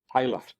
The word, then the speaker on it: Tyler: Interesting, Tyler remained Tyler and kept its Scottish pronunciation. Tyler, or a tailor.